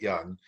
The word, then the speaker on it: Junge: name is young i spell it j-u-n-g-e but i do pronounce it young uh i was born